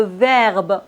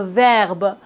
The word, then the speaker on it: verbe: final par exemple le verbe on dit pas le verbe non le verbe le téléphone la rue bienvenue vous voyez on ne prononce pas le E final mais attention quand le